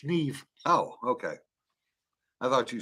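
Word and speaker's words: Niamh: spelled yeah m-a-e-v-e Neve oh Neve n-a-i-m-h Neve oh okay I thought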